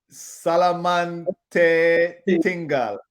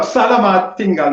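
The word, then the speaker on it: selamat tinggal: Salamante Tinggal. Salamat Tinggal. Yeah. Yeah. Thank you. And Salamate Tinggal. No, Salamat Tinggal, nothing in between. Two words.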